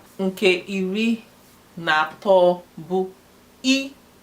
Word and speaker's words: i: Nke iri abụọ bụ E. It's pronounced as E, not I. E pronounced as E, but spelled as I.